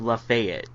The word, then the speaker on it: Lafayette: But I did feel a distinct sense of place with Lafayette, mm-hmm. As it is properly pronounced.